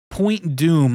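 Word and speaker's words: Point Dume: Point Doom, but it's spelled D-U-M-E. Point Doom.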